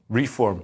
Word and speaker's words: reform: I don't want to spend ages on this, but everyone else is pronouncing reform like the noun, but you're saying reform like the verb. Reform.